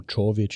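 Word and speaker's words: Čović: Certain letters, like for example, my surname Covic, even though it's a C at the start and a C at the end, they're actually two different letters. They're pronounced differently, like ch and ch.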